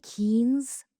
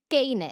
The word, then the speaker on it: Keynes: And every other motherfucker in the classroom is saying gayness. Gayness. Gayness. And I was like, fuck me. That's how you say it in Spanish? That's how we're saying his name? We're butchering Keynes?